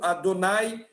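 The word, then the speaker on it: Adonai: shame you came back o nome de Deus que a gente pronuncia como adonay que a gente vai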